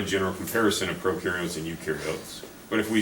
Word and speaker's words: eukaryote: you are eukaryote and this is pronounced you so prokaryotes generally are